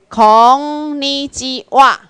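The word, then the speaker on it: こんにちは: 你，鸡，这里哈，会当读作哈，啊会当读作哇，哈，啊直接读作哇，所以念起来就叫做孔尼基哇。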